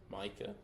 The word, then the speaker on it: Micah: How does he pronounce his name? Micah or Makai? Micah.